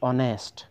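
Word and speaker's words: honest: বহিব এন বহিব কোন একটা শব্দ জানি কয় অনেস্ট অনেস্ট শব্দটার প্রথম লেটার কি আছে এইচ আছে কিন্তু এটু উচ্চারণ করাতে আমার এইচ এর উচ্চারণ ইয়াত হওয়া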